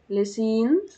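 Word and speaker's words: lycéenne: في المدرسه الثانوي اون ليس بص ليسين لسين لسين الان في الاخر هتتنطق والاول لا رفيقه اللي هي صديقه كوبين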